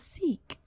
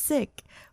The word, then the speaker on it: Sikh: shocked that oh like americans pronounce sick as seek and not just in america it was like other parts of the world in europe as well they pronounce it as sikh and it's like no it's sick we were taught that it's sick here in asia and i thought